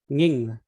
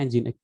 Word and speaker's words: Nginx: Bukan Nging, tapi bacanya Nginx. Nging ini yang paling sering dipakai.